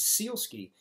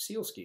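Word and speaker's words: Sielski: our nationality you know my last name is seal ski if you ever SI e LSK I think of a seal on on two skis going down a ski slope seal ski that's a simple way to remember it because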